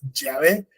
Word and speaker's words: Yahvé: Entonces, lo que más se puede acercar, digamos, al español es Yahvé o Yahweh, ¿ok?